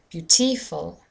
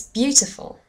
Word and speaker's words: beautiful: If I stress the second syllable in this word, I would say beautiful, beautiful, but the word sounds very different suddenly, and it doesn't sound correct. If I put it in the third syllable, it would be beautiful, beautiful. Again, that's not quite right. It's beautiful.